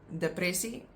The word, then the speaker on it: depressie: And then we have depressie. Depressie, again, the first one is pronounced like a, and that's depression.